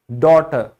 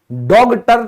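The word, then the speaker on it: daughter: डॉटर, डॉटर। डॉगटर तो कोई नहीं बोलता ना, डॉग।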